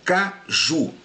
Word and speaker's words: caju: Caju. A sílaba mais forte aqui é ju. Então é a sílaba tônica. O acento tônico aqui, o acento tônico ele está na sílaba ju.